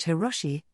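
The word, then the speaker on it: Hiroshi: fake name he took a Japanese character from the term World Expo which could be pronounced hirosi and fujikawa from the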